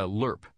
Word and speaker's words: LRRP: missions of the war as an LRRP a lerp as the acronym is often pronounced which stands for long-range reconnaissance patrol was